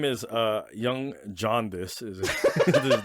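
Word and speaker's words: Yonge: yeah it's a silly name the Young The Young is spelled like y o n y o n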